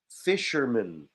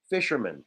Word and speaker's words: fisherman: a man so fisherman we pronounce this as min at the end fisherman fisherman or just fisher fisherwoman